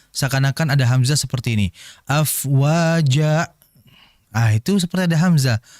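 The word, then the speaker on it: أفواجا: afwaja fokus di jaumnya adalah mad iiwad yaitu fathain setelahnya alif pada akhir ayat atau kalimat maka dibaca cukup dua harakat. Ini sering terjadi dibaca lebih dua. Jadi dibacanya waritanasa yadkhuluna fi dinillahi afwaja. Itu terlalu panjang. Tidak seperti itu. Dua harakat saja. Afwaja sudah. Tapi ingat dua harakat juga jangan sampai ada hamzah. Ini sering terjadi juga seakan-akan ada hamzah seperti ini.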